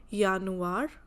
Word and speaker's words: Januar: J sounds like yacht, means every time wherever we have J, we pronounce it as Y. So, Januar, Yar, Yake.